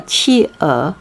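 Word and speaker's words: 企鹅: we got penguin penguin we call chi er okay right like cheese do you remember cheese chi uh okay so some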